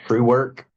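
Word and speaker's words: Truewerk: I plan on buying some more from them, and they are expensive, but it's called True Work. The work is spelled WERK.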